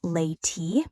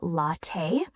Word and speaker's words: latte: Example, that moment when you said latte like lay-tea instead of latte.